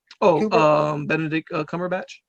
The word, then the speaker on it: Benedict Cumberbatch: Benedict Cumberbatch.